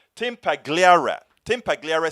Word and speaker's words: Pagliara: mean let me tell you uh brother tim pagalia said that i said it says name wrong tim pagliara tim pagliere says it perfectly right the lie was that